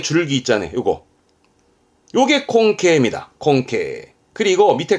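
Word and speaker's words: 根茎: 겁니다 이게 근경 뿌리 근자의 줄기 경자 근경 발음은 콩케 콩케 그러니까 뿌리줄기 뿌리 줄기 요게 괴짜라 덩어리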